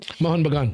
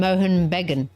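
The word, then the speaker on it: Mohun Bagan: Moen Bagan. Yeah. He basically said he uh was pronouncing it as East Bean and Moan Bean.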